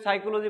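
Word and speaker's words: psychology: আমরা লেখার সময় পি লিখি কিন্তু উচ্চারণের সময় কি করি না, পি উচ্চারিত হয় না, যে কারণে এই বানানটা কি হয় আমাদের বেশিরভাগ ক্ষেত্রে ভুল হওয়ার সম্ভাবনা থাকে।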